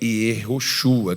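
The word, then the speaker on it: יהושע: Também começa com J, não tem o J, esquece o J. Mas a pronúncia dele é Yehoshua, que significa o Senhor é salvação, é a mesma coisa.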